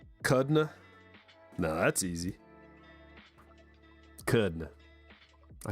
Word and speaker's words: Kudrna: The R is silent. Kudna.